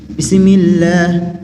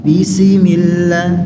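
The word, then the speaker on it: بسم الله: dan berhati-hatilah ketika mengucapkan Sinin pada saat sukun jangan terlalu berlebihan atau kurang dalam menunaikan sifatnya yang justru mengubahnya menjadi Sin yang berharakat kasrah ada yang terlalu cepat bacanya jadi seperti ini bismillah Bismillahirrahmanirrahim Kalau Ana perlambat bismillah jadi sinnya berharakat kasrah ini terlalu cepat bismillah kan seperti itu kalau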